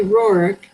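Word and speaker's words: Roerich: their name it's pronoun in russia it's pronounced but we say rorick and actually it's latvian it's not even a russian name because his father was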